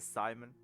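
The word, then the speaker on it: Psymon: Director Simon. That's his name. It's spelled P-S-Y-M-O-N.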